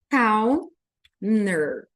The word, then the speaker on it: Counter: Counter checking Counter Counter eu não vou pronunciar esse t e vai ficar só assim ó checkin cner check Counter e eu